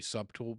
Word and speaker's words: subtle: And if you guys watch that crazy Icelandic comedian, I say subtle just because of him. I know that it's pronounced subtle, but you could have